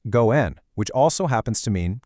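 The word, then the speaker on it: 五円: Well, 5 yen in Japanese is pronounced go-en, which also happens to mean creating a good relationship or connection.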